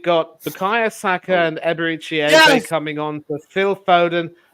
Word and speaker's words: Eze: Yeah, so I know it's pronounced Eze, but it's spelled easy, so it looks as though easy.